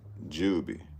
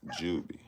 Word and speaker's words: Jubi: I I'm I'mma spell it for y'all one more time. It's J U B I Jubie. You know what I'm saying? Her name J U B I Jubby.